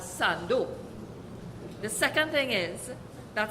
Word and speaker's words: Sando: theme first of all only we and I say we from this city pronounce San Fernando as Sando the second thing is